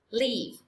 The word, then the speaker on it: live: Đó là từ pupil, our class, live, live with, tuyệt đối không được là life nhá.